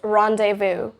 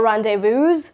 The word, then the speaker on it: rendezvous: So it's rendezvous, not rendezvous or like zzz. No, don't do that zzz sound at last. It's just rendezvous.